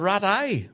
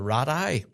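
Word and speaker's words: Rattray: Now, people keep telling me I'm pronouncing that wrong, but that's correct. I've had it on good authority by actual members from the band. That's how you say it.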